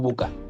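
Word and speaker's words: VUCA: obviamente está en inglés pero en la traducción ya al español se pronuncia como Buca y se refiere a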